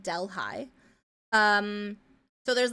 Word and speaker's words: Delhi: Um, I have family who live in Delhigh, which is a bastardization pronunciation of Delhi, like New Delhi, but it's called Delhigh.